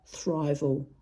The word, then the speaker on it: thrival: or what I call thrival cuz it rhymes with survival but isn't an actual